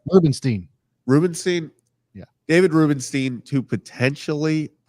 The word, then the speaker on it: Rubenstein: say his last name what's the correct Rubenstein Rubenstein yeah David Rubenstein to potentially purchased the Orioles